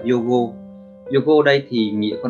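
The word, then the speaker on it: 用語: Từ đầu tiên thì từ này âm Hán của nó sẽ đọc là dụng ngữ, và cách đọc của từ này thì sẽ là yogo.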